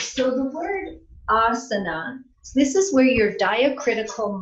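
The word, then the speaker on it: āsana: the pronunciation is so what a long and a with a line over it means is it's really a a as a n/a right asana is held twice as long right so I'm just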